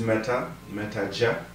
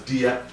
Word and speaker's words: Meta Dia: Yes, my name is Meta Jah. A lot of people pronounce it the Jia as Dia, so it's the same.